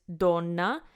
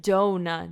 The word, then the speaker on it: Donna: right so don't don't it sounds like it's like Dona Dona which is wrong so we need to